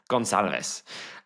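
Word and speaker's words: Goncalves: It's spelled Gon Calves, but I believe it's pronounced Gonalves. Uh oh, put a bit of Spanish twang on that one.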